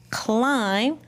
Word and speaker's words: climb: I found lots of words with the silent letters. Did you? Let's read them. Wrens, new, no, gnats, sign, climb, limb, thumbs, with that apostrophe S.